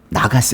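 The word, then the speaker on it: נָגַשׂ: 나가스 해보세요.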